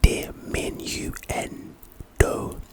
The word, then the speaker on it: diminuendo: Anyway, pronunciation de minu n do.